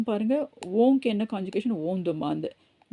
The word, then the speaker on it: demande: ஆனால் இஎன்டியை நம்ம ப்ரொனவுன்ஸ் பண்ண மாட்டோம்.